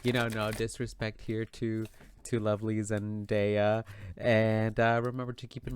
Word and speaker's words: Zendaya: So I'm going to try my best to pronounce Zendaya's name properly this time because in my last video that I did of them, people were like, it's not Zendaya, it's Zendaya.